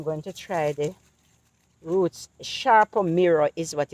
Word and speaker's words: Sarpo: Sharpo Mirror is what it's called. It's spelled Sarpo, but it's pronounced Sharpo. So I'm going to try Sharpo Mirror potatoes next season, God willing.